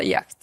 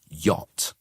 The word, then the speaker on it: yacht: Uh, yak. So, it looks like that, but it's a strange pronunciation in English. We we pronounce it yacht.